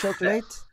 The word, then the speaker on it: chocolate: Oui, parce qu'en fait en anglais, on a une accentuation des mots qui n'existent pas en français. Donc on a des syllabes qui sont plus accentués que d'autres. Et donc là, on a le on voit qu'on sait choc le choclut. Lut ou late ? Lut. Le ouais lut. Chocolate. Chocolat.